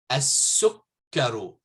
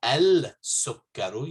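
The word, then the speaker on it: السكر: Okay, so, and going back, as-sukkaru. You don't say al-sukkaru, you say as-sukkaru.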